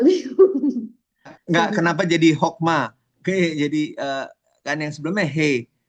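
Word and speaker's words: חכמה: berarti dia berperan sebagai kamets hatuf yang penulisan dan pelafalannya sebagai huruf O. Jadi bacanya hokma, bukan. Kalau dia bukan kamets hatuf, Hakma.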